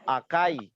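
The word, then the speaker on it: 赤い: biru bilangnya cuma tahu warna merah bilangnya cuma aka Ya nanti tapi di Jepang di Jepang itu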